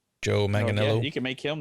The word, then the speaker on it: Manganiello: Joe Manganiello, or whatever how you pronounce his name. Joe Manganiello.